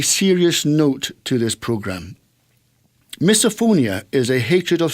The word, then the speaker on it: misophonia: Is misophonia?